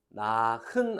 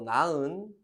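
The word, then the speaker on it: 낳은: 그래서 나흔 안 하고 나은, 노하 안 하고 노아라 할 거야.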